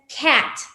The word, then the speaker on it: cat: No decimos cat, ¿no? Nosotros lo leemos en español y tal cual es la lengua transparente, decimos cat. La pronunciación correcta es cat. Cat. Es como si juntáramos tal cual en nuestro entendimiento la letra A y la letra E.